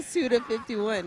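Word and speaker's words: Suda51: cuz I keep saying1 51 but I'm saying suda 51 right yeah you're saying it correctly it sounded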